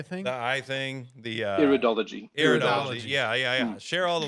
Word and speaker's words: Iridology: The Erdiology. What was it? How did you pronounce it? The eye thing? The eye thing. The Iridology.